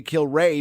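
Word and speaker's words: Kilrea: I'll say like this I have heard that that is how the pron the correct pronunciation for and Brian kill Ray is in the Hockey Hall of Fame for the two kill Ray brothers and then I say kill Ray because um when I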